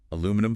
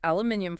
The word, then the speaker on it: aluminium: Aluminum foil. It's aluminium foil. Spelled differently, pronounced slightly differently. Aluminium. Right.